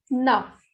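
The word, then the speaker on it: neuf: Next is N-E-U-F. Nuff. It is ending with F, so it will be pronounced completely.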